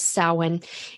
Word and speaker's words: Samhain: year off with my personal favorite, which is Samhain. And you may, if you're just looking at the spelling on that, it's Samhain, but the pronunciation is Samhain, and it runs from October 31st to November 1st.